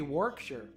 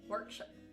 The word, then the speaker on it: Warwickshire: Oh, I guess it'd be Warwickshire. Warwickshire. Yeah, I'm pronouncing the American way. Warwickshire.